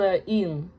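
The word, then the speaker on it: 이응: It's called a in. If it's placed in front, like in the beginning of a syllable, it is silent. Freaking silent. But if it's at the end, it makes an ng sound, an ng sound.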